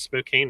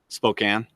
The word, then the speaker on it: Spokane: not feasible for us I guess I pronounce Spokane wrong Spokane yeah I can yeah